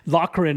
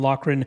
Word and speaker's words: Loughran: Loughran, I believe, is how at least you say the last name, so I'll be sure to get that right here during this segment.